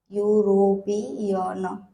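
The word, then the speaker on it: European: रखना है ओके तो यूरोपियन का स्पेलिंग भले ही ई से स्टार्ट हो लेकिन उसका प्रोनंसिएशन हम यू से करेंगे और य आता है कंसोनेंट में ओके दूसरा एग्जांपल है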